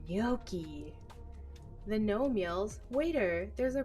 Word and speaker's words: gnocchi: fluent spanish at home g is for gnocchi the nomials waiter there's